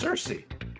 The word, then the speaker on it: Saoirse: And so I believe it's actually pronounced Cersei.